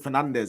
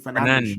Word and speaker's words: Fernandes: You're not supposed to pronounce it Fernandez. It's supposed to be Fernandes or something.